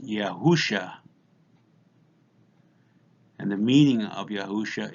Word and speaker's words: Yahusha: Here on the bottom we have the name of the Son, Yod, He, Wah, Shin, Ayin, pronounced Yahusha.